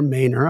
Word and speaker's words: Maynor: gentleman named Randy Maynor m-a-y-n-o-r Mainer I believe that's the way you should pronounce it and the song is